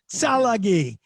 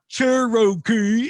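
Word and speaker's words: Tsalagi: tribe to be cherokee which is the mispronunciation of the cherokee language salagi it's not cherokee it's i probably don't even say it right but if you're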